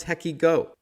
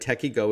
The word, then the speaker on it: TekyGo: combat both of those concerns and it's called techie go and joining us on the line to chat